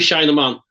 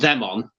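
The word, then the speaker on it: shine 'em on: Should we do shine them on? That's shine, E-M-O-N. Not them on.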